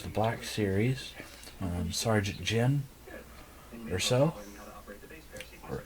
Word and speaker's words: Erso: So again, we have the 2016 Star Wars, the Black Series, Sergeant Jyn Erso, or Erso. That's spelled Jyn space ERSO, Jyn Erso.